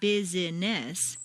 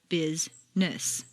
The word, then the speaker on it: business: some words appear to have three or more syllables but all of them are not actually spoken for example business is not busyness but rather business just when you get